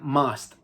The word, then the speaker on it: must: Después tenemos must, que aunque se escribe must, se pronuncia must, con A. Must.